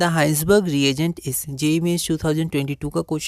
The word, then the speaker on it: Hinsberg: और प्रोनाउंसिएशन में पे आप ध्यान रखिएगा ना, कई बार हाइंसबर्ग को हम लोग हेजनबर्ग भी पढ़ सकते हैं, क्योंकि ये भी एक साइंटिस्ट का नाम है जो हमने 11th में एक बार देखा था अनसर्टेनिटी में, ठीक है। तो ये आप क्या क्या हाइंसबर्ग है ना, और हिंसबर्ग की जगह हम लोग इसे हाइंसबर्ग प्रोनाउंस करेंगे, ठीक है।